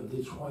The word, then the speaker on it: Detroit: J'ai su qu'il faut dire Detroit, il faut prononcer le T, donc j'ai dit Détroit.